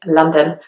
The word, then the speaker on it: London: pronounce it very differently I used to really enunciate the O's and kind of really enunciate the syllables but actually most people just say London which almost sounds like there's an A instead of the O but that's just how people say it so I hope you